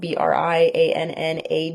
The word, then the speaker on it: Briannagh: Um, and obviously the spelling, you know, it's spelled B R I A N A G H D. So, I have that GH at the end of my name. But yeah, Briana D on everything.